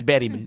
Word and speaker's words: Bergman: Is that how they say it? That's how they say it. It's Bergman.